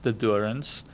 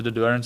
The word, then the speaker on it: De Doorns: Yeah, okay, so I'll start with the Dorans. Like I said, that's the town where I grew up in. So the Dorans is actually, it's a small town.